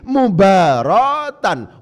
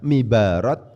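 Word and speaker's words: مباراة: Gak bisa misalnya memba alif, ro alif ta itu kemudian dibaca mibarat, dibaca mabarat, itu tak boleh. Salah nanti. Harus dibaca mubarat.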